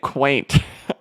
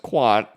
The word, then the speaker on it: Quant: don't own q&t and I've been calling it quaint all this time two it was two xrp Las Vegas's ago that somebody a nice lady who watches the channel had to tell me it's pronounced Quant uh uh but it's